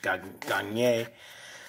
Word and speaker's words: Gagne: Merker, Shrimper, Mayer, Fry, Robinson, Goldmine, Bell, Snyder, Bradley, Phillips, Olsen, Catcher, Gagne, but French pronunciation, Gagne, Webster, Witt, Kendall, Ballard, Charlie Hayes, and Aaron Yeldon.